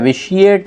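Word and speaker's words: vitiate: विशिएट इसको pronounce किया जाएगा, ये वर्ब है, इसका मतलब है ख़राब करना।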